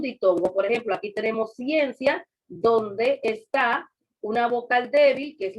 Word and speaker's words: ciencia: Usted cuando va a decir la palabra ciencia, usted no dice ciencia, usted dice ciencia, ciencia. O sea, la pronuncia de un solo golpe de voz, las dos vocales.